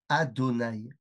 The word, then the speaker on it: Adonaï: tout simplement Parce que Yud Kevfke comment il se prononce dans ce monde ? Et bien il se prononce Adonaï à nounude.